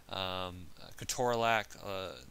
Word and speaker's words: ketorolac: But this will include things like ibuprofen, naproxen, indomethacin, ketorolac. The actual proper way to say that is ketorolac, but again, you sound